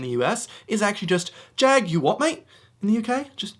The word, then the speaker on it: Jaguar: brand Jaguar in the US is actually just Jag, you what, mate? In the UK, just Jag, you what, mate? You know, they go to pronounce it correctly, but then they get a bit upset.